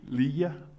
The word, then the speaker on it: Ligia: Ligia? Pronounced like G as an H, as a sign as Okay.